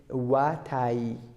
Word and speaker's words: watai: How we pronounce watai? Watai. Because of two yi we have it here. One of them is vowel, one of them is consonant. We have to use both.